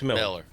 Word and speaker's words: Mueller: Miller or Mueller? It's Miller. He put Mueller. It's spelled Mueller.